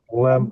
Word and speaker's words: lamb: қой дейтін, Б Beef, менен lamb деп, бірақ lamb деп эле бны айтпайбыз. Бны эмнеге lamb. кошуп койгон? Баранина дегенден билип турсуң да бны кошуп койгон да. А так окуп атканда айтпайбыз. Произношениеде. Lamb эле болот.